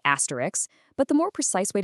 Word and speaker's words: asterisk: The mistake a lot of people make is adding an extra sound right there at the end. So, that last syllable should sound exactly like the word risk, not ricks.